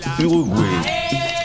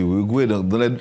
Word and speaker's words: Uruguay: Haïti comprendre Uruguay c'est un gros pays alors prononcer l'Uruguay et nous dit Uruguay les deux sont bons Arnold.